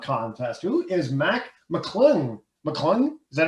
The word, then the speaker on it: McClung: McClung? Is that how you pronounce his last name? McClung.